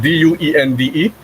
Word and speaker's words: duende: So in Spanish, this is how we spell the word D-U-E-N-D-E, and it's pronounced duende.